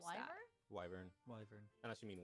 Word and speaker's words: wyvern: pronounce it Wyvern? like wyvern. What's the other one? Wavern? I don't know. Wyvern.